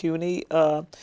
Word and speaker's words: CUNY: Is that correct pronunciation? Yes. CUNY.